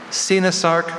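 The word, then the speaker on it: coenosarc: Sinasark, Senasark, Sinosark.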